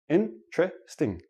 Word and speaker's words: interesting: is interesting but but in everyday speech interesting interesting interesting I have four syllable syllables when I actually say it naturally it becomes three syllables and the T and the r become like a CH but that's we'll talk